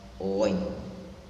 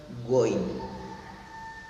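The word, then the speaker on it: غين: Perhatikan ketika saya sukunkan huruf kha, ghain, bukan goin, tidak disebut goin ya.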